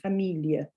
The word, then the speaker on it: Familie: We do have it here on the end of Familie, but we actually need to pronounce that slightly differently. That's ihr on the end. Familie.